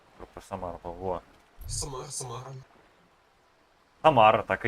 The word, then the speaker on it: Самара: А, Самара как читается? Подожди. Где-то вот про Самару был. Во. Самара.